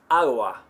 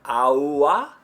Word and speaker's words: agua: How about the word for water? Agua.